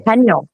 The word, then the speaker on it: Puckapunyal: And it looks like in between Heathcote and this, It's pronounced Puckapunyal. There you go. Puckapunyal.